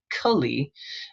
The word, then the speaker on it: Kali: So just for a moment, Kulli, not goddess Kali, but Kali spelled the same different markings.